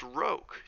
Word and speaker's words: roque: "It's pronounced roque," Daddy was saying.